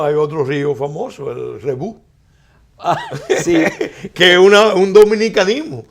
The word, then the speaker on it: Rebouc: Y se escribe Rebouc. Y entonces se pronuncia Rebú.